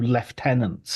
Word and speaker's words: lieutenant: of does everything else through left tenants and that allows him uh to or lieutenants as James Bond would then phonetically spell as a way of saying listen listen to how they pronounce it here they're the crazy guys